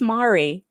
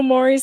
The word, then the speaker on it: Maury: They don't know who Maury Povich is. But who says Mari?